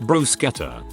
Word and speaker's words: bruschetta: a brew scatter topping make sure you pronounce it with a hard ch2 brew scatter next time you get